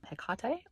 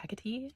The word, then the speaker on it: Hekate: So today I wanted to talk to you a little about Hekate or Hekate or Hekate, depending on how you like to say her name, and the Pluto in Scorpio generation.